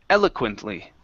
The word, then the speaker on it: eloquently: Okay, the stress goes at the very beginning. Eloquently. Eloquently. Good, good. All right. Next one here is contempt. Okay, right here. So our stress is on the end of the word, and so the beginning,